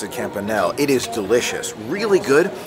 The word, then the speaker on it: campanelle: Took a few bites of the shrimp campanelle, and I found out that's how you pronounce it, campanelle.